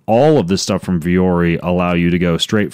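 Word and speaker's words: Vuori: It's Viori clothing. You spell it V-U-O-R-I.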